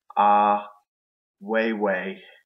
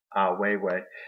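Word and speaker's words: Ai Weiwei: And also a key person that stood out to Morgan is Ah Weiwei. Yes, I said it right. Ah Weiwei.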